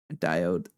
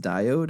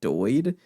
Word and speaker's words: diode: And it just became an inside joke because I think someone mispronounced diode and they said doid, and we just stuck with it for the rest of the playthrough.